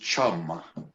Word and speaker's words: CHM: but distinct help format used to be pronounced chum?